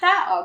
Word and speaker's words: tao: So if you read this word in English, it would be tao, right? You blend vowels in English. But in Tagalog, if you see two vowels right beside each other, you pronounce them separately, right?